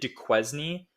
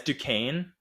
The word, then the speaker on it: Duquesne: admit this but I I pronounced it de quesny for the longest time and yeah yeah it's Ducane and I didn't know